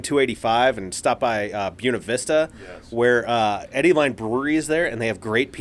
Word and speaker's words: Buena Vista: that white right because a lot of people want to say Buena Vista well that's the correct I mean like but no Buena Vista yeah it well yeah so Buena Vista is the Colorado pronunciation right well yeah because that would be the correct Spanish pronunciation yeah but it's Buena Vista and the Chamber of Commerce even says this because it was uh